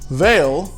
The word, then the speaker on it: Vale: let's get into it veil pronounced vale in brazil is a brazilian multinational